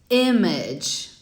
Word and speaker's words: image: Image. Não é um I e não é um E. É uma coisa in between, né? Entre um e outro. Então não é image, nem image.